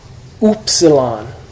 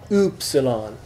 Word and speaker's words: upsilon: Upsilon. Uber. So yeah, cool, or as in German, Uber. Umlaut. Upsilon. Really, if you just pronounce it like two O's, ooh.